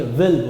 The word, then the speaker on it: will: ऐसे भी लोग हैं, लोग इसको बिल बोलते हैं। बिल, भाई बिल नहीं होता दोस्त, बहुत ही गंदी बात है, ये तो बहुत बदतमीजी होती है अंग्रेजी के साथ। प्रोनाउंसिएशन सुधार लीजिए, विल बोलिए, विल, would, ought to, dare,